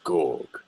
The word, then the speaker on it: Gorg: hello my name is gorg it's all like grog but you say it backwards so I suppose you